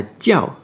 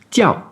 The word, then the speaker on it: 叫: IAO, là on va prononcer IAO comme IAO, avec un O très bref, et un quatrième ton. Tiao.